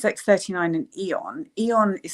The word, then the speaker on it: Aeon: It's X39 and Eon. Eon is spelled AEON, and that is the inflammation one.